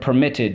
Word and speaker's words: permitted: notice okay the word permitted we have two syllables okay in the last syllable we have one vowel we have one consonant at the end and the accent is on the second syllable permitted that's the two one